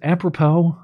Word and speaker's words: apropos: Apropos?